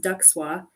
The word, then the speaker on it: DCSWA: So, if I had met, I mean, I knew about the DC Science Writers Association, which is pronounced DUXWA, DCSWA.